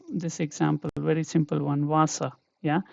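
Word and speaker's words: Wasser: And here if we can think of this example, very simple one, Vasa, yeah. So here it is like wa, yeah, Vasa, Yeah, so always we can take another example as well, weg.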